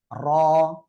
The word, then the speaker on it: র: মাশাআল্লাহ, এই অক্ষরটা হলো র। র। ঠিক আছে? আর এই অক্ষরটা একটু মোটা আওয়াজে হবে। ঠিক আছে? বাংলায় র এর মতো হবে।